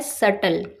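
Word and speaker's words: subtle: एस यू बी टी एल ई इस word में B silent होता है। तो इसकी करेक्ट प्रोनंसिएशन होती है सटल।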